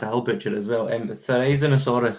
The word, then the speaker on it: Therizinosaurus: Therizinosaurus is, I think, the correct pronunciation.